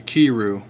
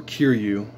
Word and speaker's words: Kiryu: look at type 3 kiru or kiryu i always get that mince pronoun i always get that pronunciation wrong but at least i